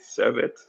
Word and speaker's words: Servette: And also getting ready for Chelsea's game tomorrow against Servette FC. Servette, is that how you say it? Servette? Yeah, Servette FC, yeah.